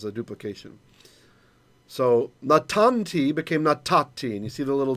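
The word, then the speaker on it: נתתי: So natati is how it would have been pronounced in ancient times. Actually, nathati, but we don't do that anymore.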